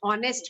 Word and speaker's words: honest: Okay, my father is dash honest man, an honest man. Yes, is it Yes, clear ma'am. now, children? Because H is silent, so we will write an honest man.